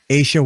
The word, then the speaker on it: Aesha: Aesha, like geisha without the G. Aesha is here.